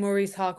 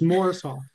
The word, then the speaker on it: Maurice: so we're all saying Maurice Hawk wrong moris Hawk yes Morris Hawk it's not spelled m o r r i s but it's pronounced like it is Morris Morris Hawk so